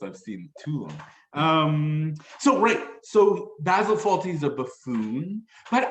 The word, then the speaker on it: Basil: Basil Fawlty, or Basil, I don't know how you pronounce Basil, it. he's British, Basil. so Basil. All right. Yeah. I mean, you're talking about pasta sauce, so basil fits there, but yeah, it's Basil.